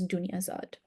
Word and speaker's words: Dunyazad: spelled Dinarzad or Dinarzade, but the best way to say her name, and that's closest to the Arabic original, is Dunyazad.